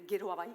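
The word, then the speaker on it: Geroa Bai: Claro votaremos en contra en nombre de guero abay que es como ena se pronuncia guero abay es que no convencen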